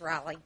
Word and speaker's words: Raleigh: It's Raleigh. Rhymes with Molly.